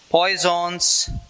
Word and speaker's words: Poisson: So, name looks peculiar, that is Poisson's ratio. Okay? Poisson's ratio. So, Poisson means it's actually one of the scientists' name. Okay? We Indians will pronounce as it is, like the letters which are there.